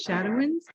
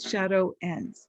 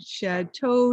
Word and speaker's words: Shadowens: i i love it it's shadow wins and it's pronounced pretty much the way it's spelled shadow ends but people get incredibly intimidated by it when they see it i've heard shad toe shadowy shad woes shad wings and my personal favorite shadows so i was trying